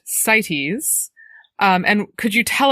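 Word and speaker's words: CITES: And so I was wondering if you could talk a little bit about the acronym is c I tes it is pronounced sites.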